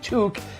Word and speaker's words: toque: Um, a a toque. You can call them beanies, knit caps, and caps, but the proper pronunciation is toque. It rhymes with Luke.